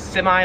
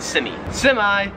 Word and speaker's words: semi: So yeah, we say this word as semi, like with the I, we say I at the end. In Australian English, they would pronounce it semi, but yeah.